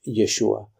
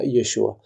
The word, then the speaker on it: Yeshua: todos que es yeshua Ahora más adelante dice yehoshua que es la forma como se pronunciaba en la Biblia antes de el retorno de Babilonia cuando fueron deportados a Babilonia se decía yehoshua y al volver se decía yeshua de hecho lo puedes